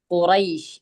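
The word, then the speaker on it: قريش: അവസാനത്തെ അക്ഷരത്തിനു മുമ്പ് എന്തുവന്നു അവസാനത്തെ അക്ഷരത്തിനു മുമ്പ് സുക്കൂനുള്ള സുക്കൂനുള്ള യാ സുക്കൂനുള്ള യ വന്നു അപ്പോ നമ്മൾ ഓതുമ്പോൾ എന്ത് ചെയ്യണം അവിടെ നീട്ടി രണ്ട് ഹറക്കത് അല്ലെങ്കിൽ നാല് ഹറക്കത് അല്ലെങ്കിൽ ആ ഹറക്കത് നീട്ടി നിർത്തണം അപ്പോ എങ്ങനെയാ നിർത്തുക അത്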